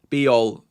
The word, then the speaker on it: Bijol: low-scoring game that um Bijol is worth the the risk over him for me. Biel, Biel, sorry. It rhymes with Puyol.